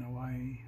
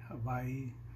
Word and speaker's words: Hawaii: they say it in Hawaii Hawaii it's in the middle of the word if it's beginning the word it's pronounced as a w I guess and next we'll get